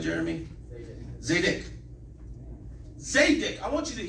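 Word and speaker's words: צדק: Zedek.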